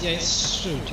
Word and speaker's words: Strood: Strood, I think it's Strood. It's pronounced Strood.